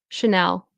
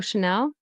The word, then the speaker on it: Chanel: Chanel Coco Chanel and then this is ch.